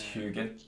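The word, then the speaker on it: Huginn: is it Hugin or is it Huggin? It's Hugin Hugin.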